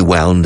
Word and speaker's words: wound: If I come onto the radio and I simply say wound, English-speaking people will think I'm mispronouncing the word round.